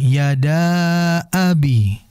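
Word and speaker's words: يدا أبي: Nah, di sini merupakan mad jaiz karena memang bukan dalam kondisi satu kalimat. Yada abi, ya. Yada abi merupakan dua kalimat yang berbeda. Yada dengan abi berbeda kalimat, sehingga itu harus dibaca jaiz, ya.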